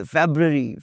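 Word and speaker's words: February: फ़ेब्रुअरी इज़ नॉट फरवरी, इट्स फ़ेब्रुअरी, फ़ेब्रुअरी, देखा star लगा हुआ जी, तलफ़्फ़ुज़ देखिएगा इसका।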